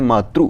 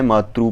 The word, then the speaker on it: मातृ: जिससे क्या होता है, लिखा तो यहाँ पर री है परंतु उच्चारण वहाँ पर कैसा कर रहे हैं, मातृ यानी कि ऊ, इस तरह से वह उच्चारण कर रहे होते हैं।